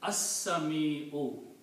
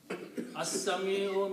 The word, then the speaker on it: As-Sami'u: will become Al-Sami'u, and when you'll pronounce As-Sami'u, because Lam becomes silent. Sin is a Shamsi letter, so the pronunciation is As-Sami'u. As-Sami'u means the one who hears everything.